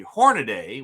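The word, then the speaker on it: Hornady: So these are the Hornaday. We discovered that's the right pronunciation. We got Hornaday hollow point critical defense pistol rounds.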